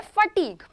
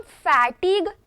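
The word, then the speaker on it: fatigue: एंड यस, इसे हम फैटिग इस तरीके से प्रोनाउंस नहीं करेंगे, बिल्कुल फैटिग प्रोनाउंस नहीं करना है, फटीग प्रोनाउंस करना है।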